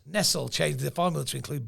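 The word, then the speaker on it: Nestlé: going to call him Nestle I'm going to give them the uh because there's no Accent on the E there so they're not getting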